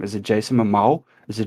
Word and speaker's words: Jason Momoa: Is it Jason Momoa? Is it Jason Mimosa? Is it Jason? I don't know. I think you got it right in the first time.